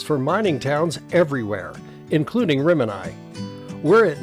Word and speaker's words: Rimini: assumed the suggested name, pronounced in Italian as Rimini, was for the actor who played the leading role, thinking it was Irish, and accepted the name. So did the post office. But instead of the Italian pronunciation, they went with Rimini, and it stayed ever since.